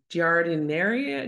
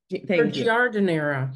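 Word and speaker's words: giardiniera: and then you take I don't know how to say this jardineria jardineria yeah whatever it's like a bunch of pickled veggies um gardera gardera you're right gardera um some roasted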